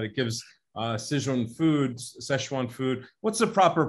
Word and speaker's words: Sichuan: gives uh sizon foods szechuan food what's the proper pronunciation there's so many spellings correct the record no we say it in mandarin sichuan sichuan okay got it and